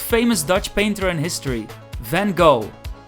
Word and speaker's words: van Gogh: Dutch painter in history van Gogh which we pronounced in Dutch as fond hope the Vincent van Gogh